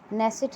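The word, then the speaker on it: Knesset: नेसेट यहाँ की संसद का नाम है, के है पहले, साइलेंट है।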